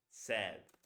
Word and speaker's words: said: to be pronounced as said. Single vowel like this, but instead of a Z, a D.